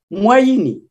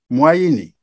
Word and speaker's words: Mouayini: Donc, il faut savoir le prononcer. Comment ça se prononce alors? Moyini. Moyini.